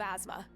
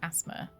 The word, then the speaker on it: asthma: I have asthma. Fair enough. I always like how Americans uh pronounce asthma. Like asthma doesn't have a zed in it.